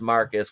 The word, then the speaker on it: Marquise: uh marcus or it's it's spelled marquise but it's pronounced marcus which pissed me off